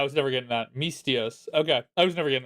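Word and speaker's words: Misthios: Mythios Myth mythios.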